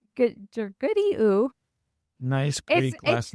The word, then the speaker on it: Georgoudiou: Did I say it right? Yeah. Georgoudiou. Georgoudiou.